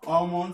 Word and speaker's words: almond: On ne va pas prononcer elles dans talk, almond, salmon, palm, yolk, balm, walk and shark.